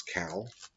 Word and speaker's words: CAO: different spellings on it the best pronunciation that I have is cow not what a c but with k um and with that